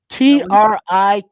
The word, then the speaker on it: Trikweze: So I got a cousin named Kwesi, which is spelled very similar, but add all that extra onto it. I don't know what you do with it. This one is that try on top of it.